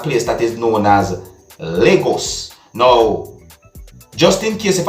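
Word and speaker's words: Lagos: happened at a place that is known as legos no just in case if i don't get the pronunciation right i'm going to spell it you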